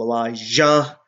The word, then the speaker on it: Elijah: I pronounce it clearly so you know they're two different people, Elijah and Elisha. One with a J, one with an S.